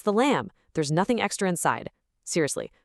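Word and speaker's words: لام: Now, phonetically, lam is pretty straightforward. It's just like the English letter L.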